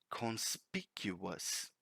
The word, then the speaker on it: conspicuous: advanced word on my list this word is conspicuous conspicuous I will repeat it for you again